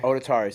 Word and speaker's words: Odetari: huh how do you say the name odari odari so I wanted to make sure I said